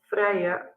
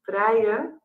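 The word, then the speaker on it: Vrije: um and maybe you you wonder how to pronounce the name so in Dutch we are called Freya University Amsterdam and this is also the name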